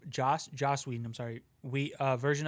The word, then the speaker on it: Joss Whedon: i don't remember if this is in the josh whedon josh joss whedon i'm sorry we uh version of this no you can't mispronounce it um yeah i mean and i'm